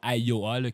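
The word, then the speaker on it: Ayoa: im mind map peut-être que vous allez voir AOA qui est comme l'entreprise qui s'écrit a y O A vraiment l'application qui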